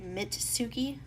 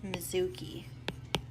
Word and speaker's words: Mizuki: And my mom keeps saying his name like Mitsuki, like Mituki, but it's Mizuki.